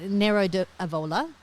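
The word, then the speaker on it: Nero d'Avola: going to say it right as usual but Nero aola yep that that's right that'll do now what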